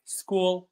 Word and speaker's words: school: So ch is not always pronounced as ch or ch but sometimes we can find it pronounced as c like school mechanic schedule. By the way schedule means program basically it means program.